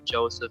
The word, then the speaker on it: Joseph: name is pat leon joseph noble fernandez pantaleon is named after my father's father joseph is actually pronounced jose but i'd never say that that's a bit too